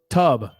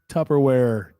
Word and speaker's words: Tupperware: When the guy says, "Wait, hold on," say the first syllable. Tub, wrong. Tupperware. How do you say Tupperware, Shane? Do you say Tupperware or Tupperware? No, with a P.